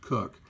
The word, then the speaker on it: Coke: the 17th century Lord cook I know that looks like Coke but it's pronounced cook differentiated between natural persons